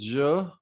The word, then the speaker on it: je: so first one is joe and that stands for i if you can't speak ja you can speak the words pleasure measure and then extract zero from it so repeat after me